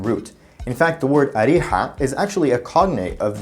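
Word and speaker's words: أريحا: In Arabic though, Jericho is actually called Ariha, which in the dialect is just pronounced as Riha.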